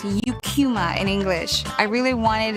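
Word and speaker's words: Eucheuma: And I I would hear Japs pronounce the name of the seaweed species as Ekkuma. The scientific name is pronounced Yukuma in English.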